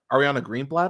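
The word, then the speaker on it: Ariana Greenblatt: I actually liked is uh Ariana Green uh Ariana greenblat I think that's how you say it uh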